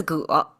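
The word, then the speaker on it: 戈: Pronounced as ge, and you can see here it's double of those stacking up.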